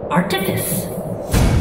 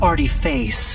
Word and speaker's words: artifice: Artifice. It's not artiface, like surface or interface. It's artifice, meaning made of art, like orifice means made of mouth.